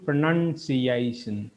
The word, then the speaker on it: pronunciation: இதில் வந்துட்டு PRO அப்படிங்கிறது is PRO. இந்த O அவடத்தில் இந்த O வந்துட்டு O சவுண்ட் அல்லது ஓவோட ஷோர்ட் சவுண்ட் ஓங்கிறது கொடுக்காது. but it gives a and a schwa sound that becomes pronunciation.